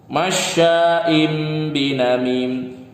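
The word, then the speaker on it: مَشَّاءٍۭ بِنَمِيمٍ: Ya, ada kasroten bertemu dengan ba di sini. Biasanya di Al-Qur'an yang udah modern di sini ada huruf mimnya. Itu tanda kalau tanwinnya dibaca mim dan ditahan 2 atau 3 harokat. Maka baca gimana? Masya'im binamim. Ditahan dulu. Jangan langsung dilepas.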